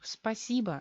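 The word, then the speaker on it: спасибо: Spasibo. Oficialmente, spasibo. Pero, ¿qué pasa? Tenemos sílaba tónica O. significa que esa letra va a tener reducción. Spasiba, esta letra sufre la reducción. No se articula bien y se convierte en A. Spasiba en el habla corriente.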